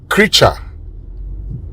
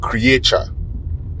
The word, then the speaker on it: creature: Now today on say it right we learned the pronunciation of this word C R E A T U R E. Creature. Creature. and not creator.